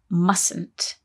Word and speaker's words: mustn't: though when we say mustn't there is a silent letter in there isn't there that's right